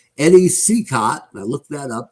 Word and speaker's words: Cicotte: We'll be playing Game 3 off of the Monday schedule coming up, and it's Eddie Cicotte.